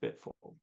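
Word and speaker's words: BTFLD: d but F five letters five letters but pronounced bit full and that's the logic module which you use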